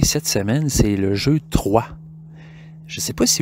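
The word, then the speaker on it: Troyes: En fait, le jeu s'écrit T-R-O-Y-E-S, mais ça se prononce 3.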